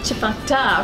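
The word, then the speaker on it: Tchefuncte: chi, if the T is silent, as in pterodactyl. Silent P. Chi functi. Chifuncta. Ding. Ding, ding, ding! Chifuncta.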